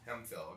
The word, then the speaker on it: Hemphill: it is it phil hemphill okay so it's the f sound yeah yeah and uh